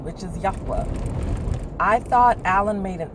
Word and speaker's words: Yahweh: Say the Father's name is pronounced Yahweh.